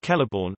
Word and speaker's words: Celeborn: The letter C always denotes K, even before I and E. For instance, Kelleborn is pronounced Kelleborn, and Cirth is pronounced Kirth.